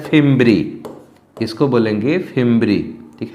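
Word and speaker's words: fimbriae: इस अंगुली के समान उभार को कहते हैं फिम्ब्री। इसको बोलेंगे फिम्ब्री, ठीक है ना, इसको बोलेंगे फिम्ब्री।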